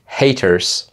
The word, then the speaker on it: haters: Ici, Ariel aurait dû prononcer les haters.